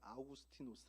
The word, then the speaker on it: 아우구스티누스: 하는 책 을 쓴 성 어거스틴 그 그나라 발음으로 아우구스티누스 아고 얘기를 하는데이 어거스틴이이 본문을 어떻게 해석했기